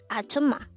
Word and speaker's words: 아줌마: 아줌마. 아줌마. This is pronounced as a three-syllable word. The first syllable is a, the second syllable is zum, the third syllable is ma.